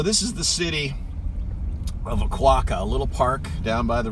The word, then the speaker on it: Oquawka: couple convenience stores and things like that but Oquawka it's an Indian Native American name means yellow river bank and actually the the proper pronunciation is a kwok ik k I see Kay on the end kick